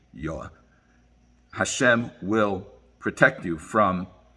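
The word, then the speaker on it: יה: Ka, the word Yud Hey, we pronounce it Ka, it's actually Yah.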